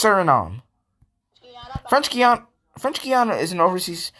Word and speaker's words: Suriname: Paraguay, Uruguay, Suriname, and It's pronounced Suriname.